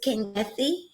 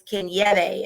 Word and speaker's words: Kangethe: It is Kangethe. If you're of Kenyan origin, it's Kangethe is to pronounce the correct name.